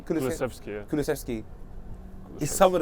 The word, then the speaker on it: Kulusevski: Kulusevski, yeah.